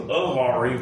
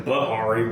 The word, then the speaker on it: Bahari: I thought his name was Ahari, but it's Bahari with like Behar.